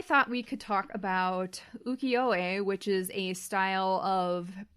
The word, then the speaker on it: ukiyo-e: So there's a dash because it should be the yo should be elongated. So it should be I can't say it. It's ukiyo-e.